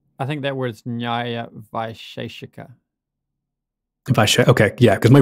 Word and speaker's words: Vaisheshika: I think that word's Nyaya Vaisheshika. Okay, yeah, because my pronunciation is going to be terrible of this. That's fine. I just thought I'd get that out. Yeah. So say it again. Vaisheshika.